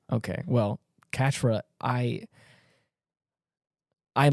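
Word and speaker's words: Quatre: blond-haired guy Katra oh yeah yeah was it quattra or it's spelled like quatra but in the show they pronounce it Catra okay well Katra I I like sunshine that boy that's and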